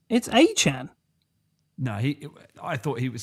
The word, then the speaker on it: Etienne: The Saints getting Travis Achan. Who is Travis Achan? Apparently, that's Travis Etienne.